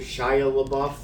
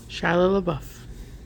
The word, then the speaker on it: Shia LaBeouf: But starring in this movie was how do you pronounce it? Shia LaBeouf. Shia LaBeouf.